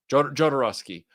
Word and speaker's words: Jodorowsky: attempt at dune with uh i can never pronounce his last name uh photo forovsky um jodorowsky yeah that is a really good one i'm